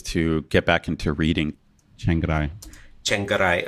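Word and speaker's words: Chiang Rai: Chengarai. Chengarai. It almost comes as an extra syllable.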